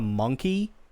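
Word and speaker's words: Mon-keigh: they also call humans monai which something I mention earlier um that is a derogatory slur for humans well they I I actually believed it's pronounced closer to Monkey which makes sense in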